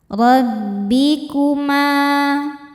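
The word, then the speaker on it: رَبِّكُمَا: Rabbikuma, ma hukumnya mad tobi'i dhahiri, sebab ada alif didahului harokat fathah. Cara bacanya panjang 2 harokat.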